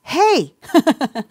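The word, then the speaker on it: ה: Like the letter, hey, right? So this is the fifth letter of the Hebrew alphabet. It stands for the number 5 in Hebrew, and it's pronounced with an H sound.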